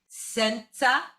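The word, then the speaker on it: senza: now i said sensa i pronounce that sort of like mozart right it's sort of like it feels like a tsa sensa can you do that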